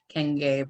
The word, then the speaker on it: Nkenge: Yeah, so it means, well, it's pronounced Nkenge. So just like three short American words, inside, cane, like walking stick or sugar cane, and gay, like happy or expressive.